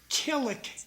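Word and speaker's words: Killik: The guy who runs the Rogers school uh crew is Dick Kllik. K I L L I K Kick. I was pronouncing his name wrong.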